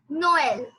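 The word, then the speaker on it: Noël: very great example is Noel Noel which which means Christmas Noel Noel means Christmas yes it's pronounced s Noel Noel Noel yeah but you have to pronounce together so Noel Noel yes so I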